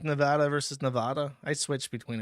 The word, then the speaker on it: Nevada: five for five says you are pronouncing Nevada wrong the first a sounds like the a in apple people in Nevada don't like it when you say nada ah Apple ah Nevada Nevada oh are you